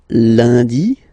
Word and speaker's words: lundi: And in France, the week starts with lundi, Monday, lundi, lundi. Okay, remember, UN is pronounced like un, lundi, lundi, lundi.